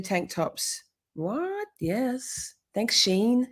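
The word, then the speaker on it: Shein: you camp shorty tank tops what yes thanks Sheen how do you say it sheen sheen sheen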